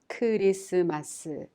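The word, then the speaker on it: 크리스마스: that represents special events christmas is christmas with koreans write it kurisumasu students don't like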